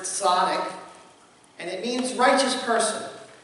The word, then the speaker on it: tzaddik: As we get started, the word up there that you're wondering, it's pronounced tzaddik, and it means righteous person.